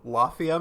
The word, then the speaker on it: Lafia: gonna try it again it spelled like Mafia but with an l so Lafia Maybe Lafia yeah he